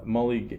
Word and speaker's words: Mulligan: Mulligan.